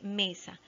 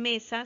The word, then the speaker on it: mesa: Dice mesa, se separa en sílabas. Mesa, ¿ya? La más fuerte es me, la sílaba tónica. Y la que no tiene la fuerza se llama átona, que es sa.